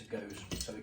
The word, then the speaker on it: Gose: Now, it is actually Gose.